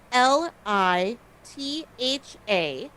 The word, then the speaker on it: Litha: So Litha which is spelled l i t h a and pronounced Litha is the celebration of the summer solstice.